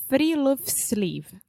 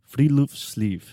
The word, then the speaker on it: Friluftsliv: Alexia, do you want to take a guess at how to pronounce this? We already know because we were practicing, so... Give it to me. It's Friluftsliv. Friluftsliv.